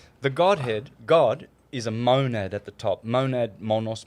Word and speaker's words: monad: The Godhead, God, is a monad at the top.